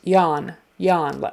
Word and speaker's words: yawn: there's a w there don't try to pronounce the W at all or it will sound funny just yawn yawn as if it were